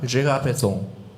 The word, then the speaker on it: Gérard Pesson: Pesson, how do you pronounce that? Gérard Pesson.